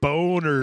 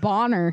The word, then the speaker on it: Boner: Boners. It's pronounced Bonner. Thank you.